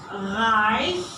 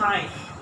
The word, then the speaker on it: reich: Then we have the combination of letters. This one is I. For example, in reich, reich is rich.